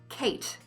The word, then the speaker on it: Kate: Kate. K-A-T. But it's spelled K-A-T-E. There are only three speech sounds. We don't pronounce the E, and that A can also be pronounced ah or ah.